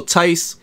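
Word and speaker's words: Theis: gonna explain what happened so i got daniel tice first of all i said his name like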